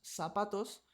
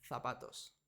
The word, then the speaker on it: zapatos: pero la z cambia en Latinoamérica la z también suena como una s sa se si so su pero en España suena como Za ce ci zo zu entonces en Latinoamérica decimos zapatos y en España dicen zapatos zorro zorro zorro zorro